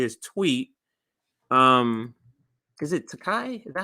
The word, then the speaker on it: Takei: George Tecate. I think that's how you say it. Tate. Tate. Ta. Tai George Takai. There's no T on it.